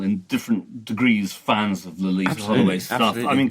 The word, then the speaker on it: Loleatta: So it's Loleatta, a la Vladimir Nabokov. I think we're all, in different degrees, fans of Loleatta Holloway stuff.